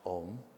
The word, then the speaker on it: Om: So it's often pronounced om. It's actually a a ma and then the importance of the silence that that follows it.